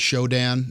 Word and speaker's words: Shodan: they are yeah there's there's literally I'm a butcher the name here but I believe it's called show Dan it's shodan it's actually a google for say for hackers